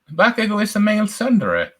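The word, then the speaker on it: tsundere: bit sanadre and uh cinderella how do you pronounce that word again sunderer okay i have no idea what that meant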